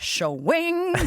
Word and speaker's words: Hsiung: what you do when you see me it's show wing thing it's like I was like Bugs Bunny